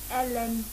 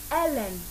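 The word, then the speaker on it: Helen: I repeat, my name is Ellen. The Ellen is spelled as H-E-L-E-N.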